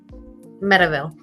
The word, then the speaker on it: Medeville: how do you say your last name? Medeville. Medeville. Okay, I would have. I keep wanting to say medieval, just because it sounds cool.